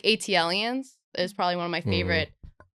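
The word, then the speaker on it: ATLiens: It's funny because you say AT-lians. Yes. Yeah. It's ATLians. Yeah. That's Oh. what they say. I pronounce at-lians. yeah, I that's did wrong. too, Yeah. but yeah, it's wrong. Yeah. Because they're from Atlanta. Oh, that's why it's AT.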